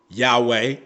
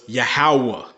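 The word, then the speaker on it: יהוה: was still the same so his name could not have been yah yahuda Yahweh it was yahwah okay so I hope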